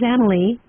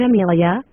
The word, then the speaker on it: Amelie: But then again, I said my name first, which is Amelie, and not Amelia, like some people like to think, quite mistakenly by the way, because it's really Amelie.